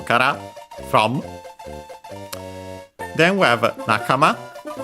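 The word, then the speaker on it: 仲間: Nakama, accent on the last syllable.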